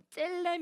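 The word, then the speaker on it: צלם: 히브리어는 오른쪽에서 왼쪽으로 읽어요 이거 읽으면 뭐라고 하냐면 셀렘 이라고 읽어 째 됨 자 따라해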